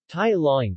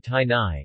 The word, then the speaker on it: Tai Laing: Tai Laing, pronounced Tai Lai or regionally Tai Nai, is a Tai language of Burma, related to Khmer.